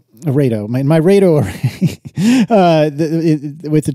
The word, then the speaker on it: RAID 0: It's pronounced RAID-O. RAID-O.